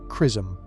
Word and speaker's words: XRISM: XISM pronounced Chrism.